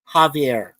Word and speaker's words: Javier: It's like you pronounce it as Javiar or Jesus. Javier.